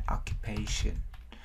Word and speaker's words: occupation: Occupation. Trọng âm có hai trọng âm chính và phụ. Âm chính nhấn vào âm pay.